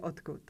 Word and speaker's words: odkud: And what do you not hear when I say odkud? There's no d sound in the word odkud. Even though we spell it with d, we pronounce t.